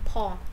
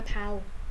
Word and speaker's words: Paul: Ok rồi, đọc nhớ lần này là đọc đúng nha, Paul chứ không phải Paul.